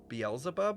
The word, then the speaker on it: Beelzebub: usable to impersonate your sister yeah yeah Beelzebub is how you pronounce it Beelzebub pymon is a demon name